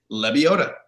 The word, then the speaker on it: Lebioda: Nobody can pronounce it. It's Lebioda.